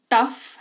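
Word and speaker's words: tough: टॉ टॉव इसको मत पढ़ना। टी ओ यू जी एच जी एच का उच्चारण जो है ग और एच ह के टॉग करके कई लोग करते हैं। इट्स not that it's टफ।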